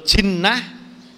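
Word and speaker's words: جِنّة: Kalau jinnah itu jin. Jinnah.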